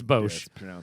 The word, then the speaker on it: Bosch: was like or but I suppose it's Bosch we pronounce it Bose because we were French and we distort the